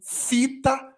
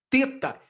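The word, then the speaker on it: θῆτα: teta tem uma particularidade dependendo da pronúncia ele pode ser pronunciado como teta como fita ou como teta na nossa pronúncia você vai gravar ele como teta Mas é possível que você veja alguém pronunciando como fita no grego moderno alguns que tem a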